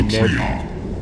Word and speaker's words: Triarch: He who should have the honor of receiving the Triarch's command. I hate how they say it. They say Triarchs. I say Triarch because it's Tri-Arch.